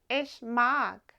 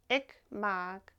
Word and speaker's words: ich mag: like doing using simple A1 phrases with clear pronunciation. Try repeating the phrases after me. ishmog ishmog. Remember, it's not ickm.